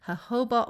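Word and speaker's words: jojoba: coconut oil almond oil hoba oil hoba oil is spelled j o j o ba a and these can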